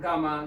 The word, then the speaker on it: gamma: अब दोस्तों एक जीरो को अल्फा कहेंगे, दूसरे जीरो को बीटा कहेंगे और तीसरे जीरो को गामा कहेंगे. गामा, गेमा, kind of a pronunciations.